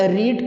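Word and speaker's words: read: और उसके बाद रीड की जो थर्ड फॉर्म है, स्पेलिंग वही होते हैं लेकिन उसको पढ़ते हैं रेड।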